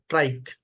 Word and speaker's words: trich: क्योंकि जैसे यहाँ पे देखो, ये TRICH, जैसे लोग पढ़ेंगे इसको ट्रिच, पर ये है ट्राइक।